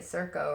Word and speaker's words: Circo: I'm saying it right, Circo, right? Yeah. Okay, good, because I thought like circus.